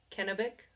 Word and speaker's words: Kennebec: Also, I had to look up how to pronounce Kennebec, but that's how you pronounce it. Not Not to be mistaken with cannabis.